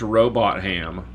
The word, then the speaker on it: Robotham: There's also a guy named George Robot Ham, which I think is pronounced Robotham, but I like Robot Ham better.